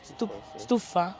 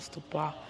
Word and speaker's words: stupa: Stufa. Okay. Okay, so correct pronunciation, stufa, not stupa.